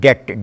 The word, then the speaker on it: debt: In a word like debt, D-E-B-T, that B is a contribution of the French scribes, doubt, D-O-U-B-T. B is added there on the analogy of original Latin spelling.